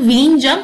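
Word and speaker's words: Vizhinjam: জেড কে কিন্তু silently আমাদের silent থাকবে ইন দ্য প্রোনাউন্সিয়েশন হবে কিন্তু ভিনজাম পোর্ট।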